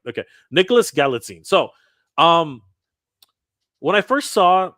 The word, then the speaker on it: Galitzine: it's Galitzine. Galitzine. Nicholas Galitzine? Galitzine. Galitzine. Galitzine. Okay, Galitzine. Galitzine. I'm Yeah. gonna get it right. Okay, Nicholas Galitzine.